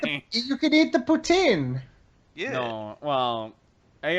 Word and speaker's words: poutine: Yes, it's pronounced poutine. No, they're lying. It's poutine.